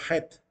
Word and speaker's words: Het: de las letras, pero para nosotros es la letra Het, ¿verdad? Ellos lo pronuncian como letra Het en el hebreo. Al menos el rabino ¿cómo se llama? Daniel Kaplan, que fue el que nos dio el curso de hebreo, él pronunciaba la letra Het. No decía Chet, decía Het. Het, para la letra.